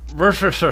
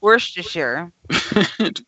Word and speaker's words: Worcestershire: I swear, half the letters in that word don't get pronounced. Worcestershire. Worcestershire sauce. Worcestershire. Okay, that was actually pretty close, Missy. Yeah. Worcestershire. Close. Worcestershire.